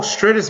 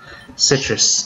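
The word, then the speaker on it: Sitrus: Oh, stratus berries. Citrus, that's how you say it.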